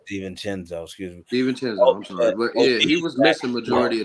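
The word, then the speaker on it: DiVincenzo: last season was missing you said it right Sten chinzo you said it right Steen chenzo excuse me Ste chinzo he was missing majority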